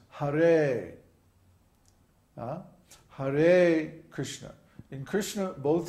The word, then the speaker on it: Hare: So in Hare, for example, the first syllable is short and the second syllable is long. So it's not Hare, it's Hare.